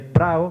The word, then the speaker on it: Prao: El Prao, que sería el Prado de la feria, ¿no? Que la gente de Coria lo suele llamar el Prao, ¿vale? Con una pronunciación vulgar, ¿no? De la D que se pierde.